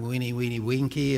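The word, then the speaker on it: veni, vidi, vici: And the old saying in Latin, weenie, weenie, winky, has been changed to weenie, weenie, visa. Okay? The V's in Latin are pronounced like W's.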